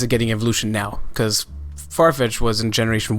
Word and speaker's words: Farfetch'd: I say it like I read it. Farfetch'd and Sirfetch'd. It's a habit I've had forever. It's a habit I've had since the beginning, where I started like making fun of the Pokemon, and I just constantly refer to it as Farfetch'd D. I'm sorry, but pronouncing it like that seems a little far-fetched.